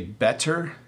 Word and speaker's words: better: So if I say it slowly, I would say better and water, but we don't say it that way when we speak at normal speed.